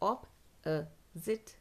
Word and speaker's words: opposite: नो, जैसे अपॉर्चुनिटी बोलते हैं वैसे ही ऑपोजिट बोलते हैं, अपोजिट, अपोजिट, अपोजिट, अपोजिट, अपोजिट, हाउ it sounds is ज़िट, ज़िट, ठीक है, अपोजिट, अपोजिट, ऐसे साउंड करता है। प्रोनाउंसिएशन क्या है? ऑप अ जिट, ऑप अ जिट, ऑपोजिट।